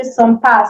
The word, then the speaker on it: sympathique: Now, before we move to the next one, this sympathique, sometimes it might not be pronounced like fully. They can just say sympa, say sympa. It's still sympathique.